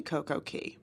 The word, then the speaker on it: Coco Cay: currently at CoCo K which actually if you didn't know it's actually CoCo Key but or Cast Away what or Cast Away no it's not Cast Away um it actually is pronounced CoCo Key but because they like